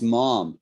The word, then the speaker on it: mom: n-u-n in america it's mom m-o-m my mom my mom and we pronounce it differently so americans say mom and in the uk we say mum although in scotland they